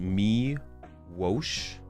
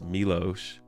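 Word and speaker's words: Miłosz: It's pronounced Miwosh. Miwosh? Dude, it sounds like... It just sounds like a... It sounds like a toddler trying to pronounce Milos.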